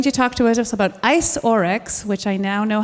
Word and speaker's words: iceoryx: who is going to talk to us about ice orex which I now know how to pronounce.